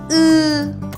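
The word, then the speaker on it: ı: بعدی حرف ا هستش این حرف متفاوته و معاد فارسی نداره پس خوب به صداش دقت کنید او او او او بچه‌ها برای اینکه این حرفو راحت تلفظ کنید باید اینو در نظر داشته باشید که دندوناتون به هم بچسبونید و از ته گلو تلفظش کنید او این حرف یه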